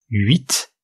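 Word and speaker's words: huit: travail ça c'est le 8 la nuit et puis 8 vous remarquez qu'on prononce le T d'habitude on prononce pas un t final en français mais là on le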